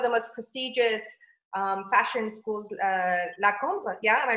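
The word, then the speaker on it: La Cambre: to one of the most prestigious fashion schools, La Combe, yeah? Am I pronouncing that right?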